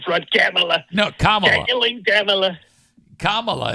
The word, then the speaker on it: Kamala: camea no kaming camea Kamala is how you say you keep saying you keep saying camela it's Kamala camela comrade she's a